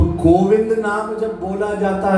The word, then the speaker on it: गोविंद: तो गोविंद नाम जब बोला जाता है, गोविंद, तो जब व अक्षर का हम उच्चारण करते हैं तो जो हमारी जुबान है वो हमारे दांतों से टच होती है।